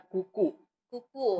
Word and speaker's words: Cuckoo: story-nya siapa kuku itu tulisannya cute kya bacanya kuku-kuku hidup kadang sering salah disitu ke apa kita biasa cukup gitu ya gitu itu itu memang